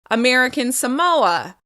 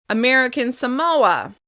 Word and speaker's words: American Samoa: As we've practiced with the states and other territories, the second word will be stressed. In this case, it will be the second syllable. American Samoa. American Samoa. American Samoa.